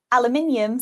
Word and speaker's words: aluminium: So we would say aluminum, and you would say Aluminium. So you have an extra I in there.